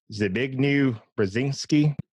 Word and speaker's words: Zbigniew Brzezinski: by, I can never say his name right, Zbigniew Brzezinski.